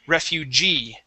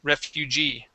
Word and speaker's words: refugee: off the word is Refugee okay stress at the end Refugee Refugee very good okay